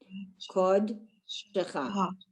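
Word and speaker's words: קׇדְשְׁךָ: Whenever you see that final ha with a kamatz, with that little t, it's going to be cha, and that means your. Kod shecha.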